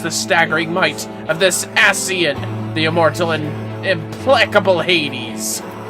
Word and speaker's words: Ascian: Ascian. Yeah, it's how it's pronounced.